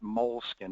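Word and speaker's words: Moleskine: this country pronounce it mol skin It's actually an Italian word mesin I know it sounds funky but there you go it's a mol skin notebook right with the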